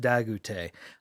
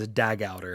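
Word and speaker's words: Dagouter: supposed to be pronounced dagute i always forget the french roots to the mistborn world because i definitely read that as a dag outer and i'm like man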